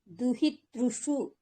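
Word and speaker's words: दुहितृषु: దుహితరి, దుహితృషు అంతే. దుహితృషు. షు పదం కొద్దిగా క్లియర్ గా ఉచ్చారణ.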